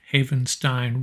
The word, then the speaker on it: Havenstein: 8 million dollars a year dj humphries of the cardinals offensive lineman 19 million number 17 our own rob havenstein rhymes with frankenstein just remember that nine